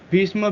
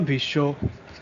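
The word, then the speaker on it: ভীষ্ম: So Bhishma Bhisho, Lakshmi Lokhi, Akshay Akshay, Vasant Boshanto, Vivekanand Vivekanando. And also the main thing is that we don't use retroflex in our conversation.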